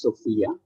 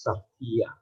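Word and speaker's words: σοφία: The Greek word Sophia is pronounced, in English it's Sophia, but in Greek it's pronounced as Sophia, and it translates as wisdom.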